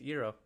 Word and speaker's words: gyro: on september 1st 2014 why do new yorkers still pronounce gyro wrong that's so funny yes eero i gotta take you